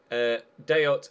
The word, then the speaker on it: Dayot: He is French, but if Dayot is anything like Payet, then the T is pronounced.